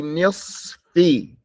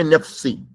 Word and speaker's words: نصف: Make sure you pronounce the sword before the fa. Be nisfi. Don't say nifsi. Nifsi. Nisfi.